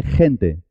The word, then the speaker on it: gente: Jefe suena je. Igual que gente. La palabra jefe se escribe con J y la palabra gente se escribe con G, pero suenan igual.